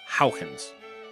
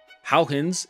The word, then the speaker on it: Huygens: he was Dutch, and I don't speak Dutch, but I believe his name is actually pronounced Huygens.